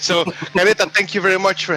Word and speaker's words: Careta: It's Careta, right? Yes. Careta Radio. Yeah, I just want to say if the pronunciation was correct. So, Careta, thank you very much for having us.